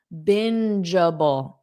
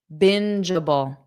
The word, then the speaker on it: bingeable: Bingeable. Let's just look at the end part. Okay. Jubble. JJ. Just like my name. Jennifer. JJ. Jubble. Jubble. Bingeable. So, the syllable stress is on the first part.